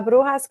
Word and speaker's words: Brujas: for you so la bruha club which you did say correctly behind the scenes but it's it's just like an h and actually I think